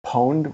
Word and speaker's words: pwned: familiar with the term pwned with a p well pronounced owned but with a p spelled owned but with